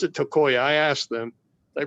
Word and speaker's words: Tokaj: They pronounce it Tokoya.